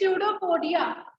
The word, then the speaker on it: pseudopodia: The P is silent in it. It is pseudopodia.